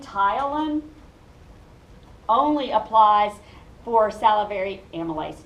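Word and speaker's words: ptyalin: but the one called Tylan is only made by your salivary glands so and notice the p is silent and the Y is long so it says it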